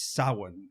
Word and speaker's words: Samhain: It's Samhain, as he says it. Yeah, we get the proper Celtic pronunciation of it.